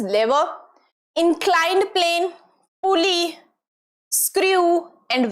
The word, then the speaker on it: lever: Here the lever and this is not lever, the pronunciation is lever, inclined plane, pulley, screw and wedge।